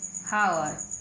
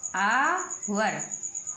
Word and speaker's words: hour: HOUR, तो बन गया हावर, क्या बन गया, हावर। लेकिन हम एच को यहाँ पर है नहीं पढ़ेंगे, क्या पढ़ेंगे, ए, क्या पढ़ेंगे, ए, तो बन गया आवर, हावर, है ना।